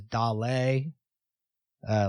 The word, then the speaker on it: dale: song with Dolly Parton he always says Dal uh like Dale is how it's spelled oh okay yeah yeah yeah I think that's like a Spanish word and in the Dolly